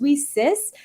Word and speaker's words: WiCyS: WIS and it's pronounced we sis like we sisters because that's exactly what